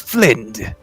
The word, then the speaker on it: Flind: So, what's the difference between a Flint and a Null? Thok, you're mispronouncing the word. It's Flind. And, Flind. the Flins have been Flind with a D.